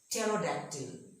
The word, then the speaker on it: pterodactyl: P is also silent when the word begins with PN or PT. For example, pneumonia, pterodactyl.